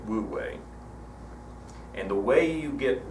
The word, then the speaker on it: wu wei: if you do this you achieve would way some people pronounce it food way but the majority go with woot way and the way you